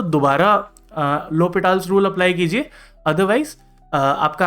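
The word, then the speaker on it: L'Hôpital: आप में से कई लोग इसे एल हॉस्पिटल पढ़ते होंगे। ये हॉस्पिटल नहीं है। यह लो पिटाल है। ठीक है? इसको इस तरीके से प्रोनाउंस किया जाता है। तो दया कीजिए और ऐसे प्रोनाउंस कीजिए।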